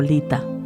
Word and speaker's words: Litha: por la tradición como Lita pronunciado lit a significa fuego es la